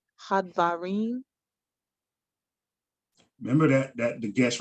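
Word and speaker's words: הַדְּבָרִים: Wahau hadbarim. Hadvarim.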